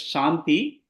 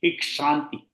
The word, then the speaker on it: क्षान्ति: Shanti ensure that you are going to emphasize on ksha. Sometimes we tend to pronounce it as shanti. Okay, in case shanti. we follow regional dialects. No, suppose if somebody is following a Tamil pustakam, they will tend to say shanti, ikshanti. Ksha.